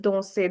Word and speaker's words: danser: So, let's start with danser, the pronunciation. Now, see, when a verb ends with e, r, the sound is a. A sound in the end.